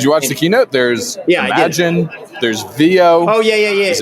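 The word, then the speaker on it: Imagen: Okay, I know what the product is, but I don't know exactly whether it's Imagine or Imagine. Apparently it's Imagine.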